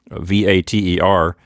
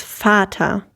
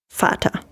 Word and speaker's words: Vater: yes this one is fata you see the resemblance to the english word father so when you have a v it is in the germanic words it is pronounced like an f sometimes you may have